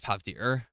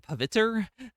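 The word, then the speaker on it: Pavitr: I think it's Pavtir. When I was a kid, I said Paviter, and that's definitely wrong.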